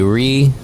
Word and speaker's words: Rie: My name is or you can call me Re. That's spelled R I E.